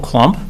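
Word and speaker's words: Klumpp: Chairman, members of the commission, my name is Klump, 301 Oakwood Terrace, Vadnais Heights, Minnesota, and Klump is K-L-U-M-P-P. The second P is silent.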